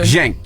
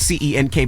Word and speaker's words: Cenk: Cenk. Just think of J. His Cenk. name is spelled C-E-N-K, but it's pronounced Cenk.